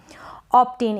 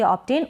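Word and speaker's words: obtain: ऑब्टेन, इसको हम पढ़ेंगे ऑब्टेन। O का उच्चारण अ हो रहा है, ऑब्टेन B को ब पढ़ रहे हैं।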